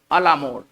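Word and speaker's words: à la mode: इसका जो उच्चारण होगा, ये फ्रेंच वर्ड है और इसका जो उच्चारण होगा वो इस तरह से होगा, अलामोड।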